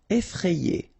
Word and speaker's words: effrayé: Effrayé. Okay, remember, double F, so you open the E, so E, effrayé. And here you get this frayé, effrayé. Effrayant.